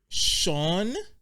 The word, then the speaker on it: Sean: it's an Irish name I feel like Sean where's the h m in this spelling of the name there's no h okay but when you pronounce it there's definitely an H sound yeah how does that